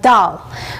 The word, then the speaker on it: dal: to be looking at doll so doll spelt da L is basically an Indian